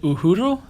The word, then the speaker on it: Uhuru: you're pointing to, and I'm probably going to mispronounce it, Uhuru? Perfect. Wow, look at that.